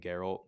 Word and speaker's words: Geralt: It's Geralt. It's not Geralt. Yeah, Geralt. I thought it was like Gerald, but No. with a T. It's spelled like it, but it's not.